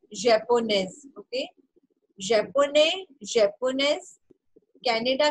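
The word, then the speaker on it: japonaise: last letter is ई तो आपको एस तक प्रोनाउंस करना है so this will sound Pakistan ने ओके पाकिस्तान ने पाकिस्तानेज जापोने जापोनेज कैनेडिया Canadian okay so practice जापोने five times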